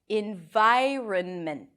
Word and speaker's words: environment: gets tricky is this in Vai earn meant so actually the vowel shifts from after the r This Is What It